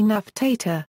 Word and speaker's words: Nefertiti: Nefertiti, Egyptian Nfertjytj, original pronunciation approximately Naftata, 4.